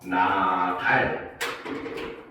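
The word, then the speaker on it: 낱알: 대표음으로 일단 먼저 변합니다. 바로 음절 끝소리 규칙이 일어나죠. 그 다음에 그대로 이것이 영음으로 위로 올라가서 나달 이렇게 됩니다.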